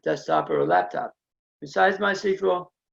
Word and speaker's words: MySQL: Besides MySQL, it's very reliable, scalable, and very fast. The official way to actually pronounce MySQL, and I've been saying it all wrong this whole session, is MySQL, not MySQL.